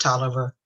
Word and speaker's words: Taliaferro: opened his accountant in tolerance county is pronounced toler but despair t-a-l-i-a-f-e-r-r-o he lives on widow